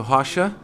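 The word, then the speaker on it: Rocha: name is um hasha it spells r o c h a but it's pronounced has and um like Russia with an H HHA I come from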